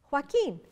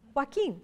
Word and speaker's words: Joaquin: name is Joaquin Avila Joaquin rhymes with walking Joaquin is not that hard